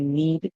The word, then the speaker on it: knead: Anytime you see a word begins with K and N in English, the K is always silent and the N would make the sound.